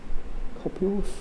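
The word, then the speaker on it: cupules: Copule, how's the correct pronunciation? C-U-P-U-L-E-S. Copules?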